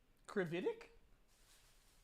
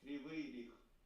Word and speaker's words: Kryvyi Rih: Krividik? Kryvyi Rih. Krividik. Okay, I have to see how that's spelled.